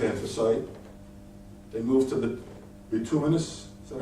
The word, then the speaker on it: bituminous: They move to the bituminous. Is that how you pronounce that?